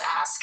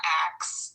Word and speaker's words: ask: The word is ask. It's ask. Oh, pronunciation is not axe.